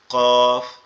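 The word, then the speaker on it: ق: কফ এটার উচ্চারণ হবে আমাদের জিহ্বার গোড়া তার উপরের তালুর সঙ্গে লাগবে, জিহ্বার গোড়া তার উপরের তালুর সঙ্গে লাগবে, লেগে উচ্চারিত হবে কফ।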